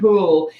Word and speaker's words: Houle: your last name cool it's like pool with a name yeah he's right right so we've got poole so if you haven't